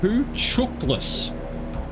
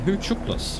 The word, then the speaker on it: Hucuktlis: and gain a visual on Hucuktlis Lake, pronounced Huchuklis. Oh, okay, Huchuklis.